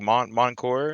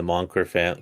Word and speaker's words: Mancur: Because I know a little bit of French, but is it French like Moncour? it, it's actually Scottish, so it's like Oh, is it? Moncur.